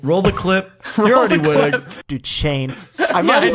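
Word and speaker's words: Duchesne: Dukane cuz that's how like you know like Dukane University or Duchain. Duchessn. Is it D? Is it like Dis or something? No. So, it's just Duchain.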